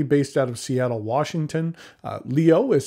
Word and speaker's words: LIOE: is a company based out of Seattle Washington Leo is spelled l-i-o-e it is run by the husband